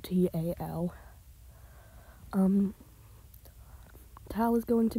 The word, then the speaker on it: Tal: so for now it'll just be known as Tau and yes that is how it's pronounced it's spelled t-a-l um tal is going to be an animated